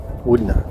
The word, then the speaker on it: Wudinna: It does look like Wudinna, but Wudinna, apparently, it's pronounced.